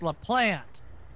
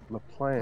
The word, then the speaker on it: Laplante: well and also because you guys mispronounced my name it's l plant La plant all right Miss Plante